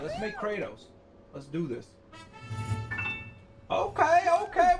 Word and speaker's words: Kratos: character of the day kratos that's the russian pronunciation of kratos it's kratos the god of war